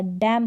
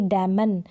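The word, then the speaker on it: damn: ये जो एन है ये साइलेंट रहेगा, डैम पढ़ेंगे, ना कि डैमन, इस तरीके से डैम, ये एन यहाँ पर साइलेंट रहेगा। एम और एन का कॉम्बिनेशन साथ में इस तरीके से लास्ट में आ जाता है तो वहाँ पर एन जो है वो क्या रहता है, वो साइलेंट रहता है।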